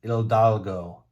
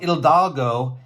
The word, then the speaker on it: Hidalgo: We have Miguel Hidalgo. Miguel Hidalgo. Okay, the H is silent. I had to learn that. Okay, so Miguel Hidalgo, he's considered the father of Mexico.